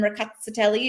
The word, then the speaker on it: Rkatsiteli: The TS in Rkatsiteli is like a tss sound, but that they do pronounce all of the different letters.